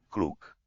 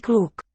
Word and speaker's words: kluk: Malý kluk. Malý, Malý. small boy is the meaning. Kluk. Kluk is German. It's spelled a little differently, but the sound is like the German word for clever.